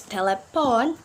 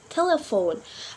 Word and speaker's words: telephone: recipe psychology psycho letter P can also be silent when it's next to H and letter P and H can mean of two oven F sound for example in the word telephone with not pronounce telepon but we pronounce telephone another example like paragraph